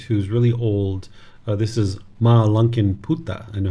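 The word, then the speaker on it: Mālunkyaputta: This is Ma Lunkin Putta. I know how to pronounce this one.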